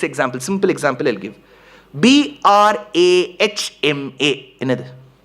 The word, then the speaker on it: Brahma: H M A Brahma when you pronounce it the way it is written it is Brahma. Oh yes sir. But why do we say Brahma? Because in samskrum there is a rule you put that some of you